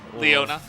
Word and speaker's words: Leona: if your Luna Leona so how do you pronounce it like properly Leona Leona yeah correct okay so yeah I mean Chris